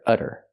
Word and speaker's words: udder: talk about this utter this one's spelled differently it has a double D and we do the same pronunciation the fast D sound utter utter this is a noun